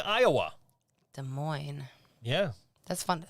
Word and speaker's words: Des Moines: it coming from uh des moines iowa des moines yeah that's fun to say isn't it des moines iowa des moines iowa especially because there's two s's in that des moines iowa anyway